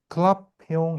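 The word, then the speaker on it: Clapeyron: 요거 이제 우리가 이게 발음 갖다가 이제 이게 잘 하기가 어려워서 클라페용이라고 합니다. 이게 프랑스 분인 것 같아요. 그죠? 이렇게 돼요. 오케이. 자, 그래서 클라페용 이퀘이션 여러분 암기하셔야 됩니다.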